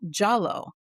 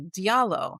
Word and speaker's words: Diallo: And in Senegal and in many places, that's pronounced Jallo. But a lot of people see the DI and they think it would be Diallo.